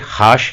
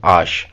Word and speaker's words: H: देखिए, इंग्लिश में जो लेटर एच होता है उसे फ्रेंच में बोला जाता है आश। आश। देखिए, मैं इसे हाश नहीं बोल रहा, इसे मैं बोल रहा हूँ आश।